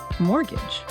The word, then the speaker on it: mortgage: They also explained mortgage, right? The specific loan for buying property. And they even gave a pronunciation tip. The T is silent.